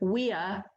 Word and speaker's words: via: and it's the word via, which is VIA. You'll recognize that. That's a word in our language as well. In Latin, V's or W's are pronounced like W's.